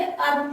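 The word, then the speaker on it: herb: पर हर्ब नहीं पढ़ के अर्ब पढ़ना है।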